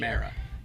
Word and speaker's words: O'Meara: And then I was like, I still would want to hear it, but it's mare like bear, not mere like fear. Mara.